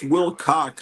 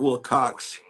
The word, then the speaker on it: Wilcock: Yeah, it's Wilcock, not Wilcox.